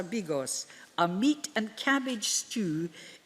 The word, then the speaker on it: bigos: this community formed et I think you pronounce it biggis or bigos a meat and cabbage